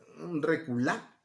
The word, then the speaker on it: reculá: La palabra es reculá, así se escribe, reculá con acento en la A.